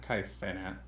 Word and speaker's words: Kai Cenat: So it's pronounced Kai Cenat.